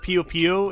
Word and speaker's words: Puyo Puyo: because if I'm real, the only reason I call it Puyo Puyo is because I know that's how the game is pronounced in, like, Japanese.